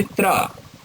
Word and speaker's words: त्र: ऐसे ही त्र, त्रा में ता, धन र, ये त्रा बनता है।